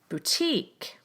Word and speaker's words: boutique: In most words of French origin, you will stress the final syllable of the word. Take a look at these examples. Millionaire, ballet, boutique, silhouette. So in words that are from French, most often the final syllable is stressed.